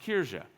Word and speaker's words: Kirche: That's not how I would pronounce it. That's because I'm not German, but apparently it's pronounced Kirche.